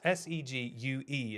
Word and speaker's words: segue: Right, no, it's S-E-G-U-E is how you spell segue. Like it's French, but then segue, the vehicle, is spelled differently.